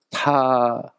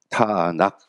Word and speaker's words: 타낙: 나는 것과 니은 발음 나는 거 그리고 키 발음이 나거든요 그래서 타낙 타낙 해서 이들이 얘기하는게요 세 글자를 따 가지고 부른